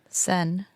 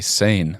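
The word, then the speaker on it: Seine: so get this uh how do you pronounce s e i n e sen right uh and I know some people say sane yeah and I put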